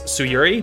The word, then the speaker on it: Tsuyuri: That shrine belongs to oh my lord, Tsuyuri? Maybe like pronounce the T a little less, so it's Tsuyuri, maybe, sorta, ish.